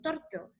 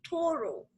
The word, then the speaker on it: turtle: Este es un poquito difícil de pronunciar porque no decimos todas las letras, no decimos torto, ¿verdad? Sino que tenemos que decir toro, ¿ok?